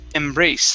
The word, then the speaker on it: embrace: good uh next word this word is embrace the stress is at the very end of the word instead of embrace embrace